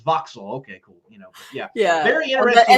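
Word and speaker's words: Vauxhall: I pronounced it first boxhall because there's a H and he's like, "Oh, we don't pronounce the H."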